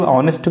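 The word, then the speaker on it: honest: क्योंकि जब ऑनेस्ट को प्रोनाउंस करते हैं तो एक स्वर की ध्वनि आती है।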